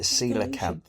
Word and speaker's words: coelacanth: probably the fish that developed into so you pronounce it coelacanth yes okay okay coelacanth I'm just gonna go